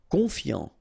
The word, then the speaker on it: confiant: Confiant, okay, final T not pronounced, so O-N, on, I-A-N, yan, confiant, confiant.